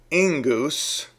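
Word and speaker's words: ἔγγυος: The word for surety, engus, E-G-G-U-O-S, which is pronounced E-N-G-U-O-S, engus, refers to a guarantor,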